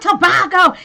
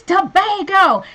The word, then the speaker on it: Tobago: and we were like it's not tobacco it's Tobago y'all not be butchering stuff